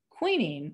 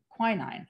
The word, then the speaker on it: quinine: thousands died of malaria queening or i think it's pronounced quinine actually quinine was the only